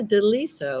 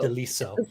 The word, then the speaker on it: De Liso: wonderful Deborah deliso do I have that I pronouncing that correctly right yeah deliso deliso Italiano okay it was Spanish or Italian actually